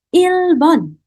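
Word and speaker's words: 일본: Oke, next kita lanjut ke negara Jepang teman-teman, kita sebut dengan kosakata Ilbon.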